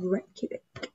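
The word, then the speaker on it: Reykjavík: And we're gonna go to the capital city of Reykjavik. Good pronunciation, Hannah.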